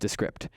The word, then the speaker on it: Descript: descript okay yeah we got one it's actually pronounced descript um users it is super cool let me